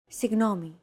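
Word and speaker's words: συγγνώμη: Signomi. This character isn't pronounced using an English G sound at all. V. It's like a very soft, continuous, and loosely held G, almost as if you're gargling.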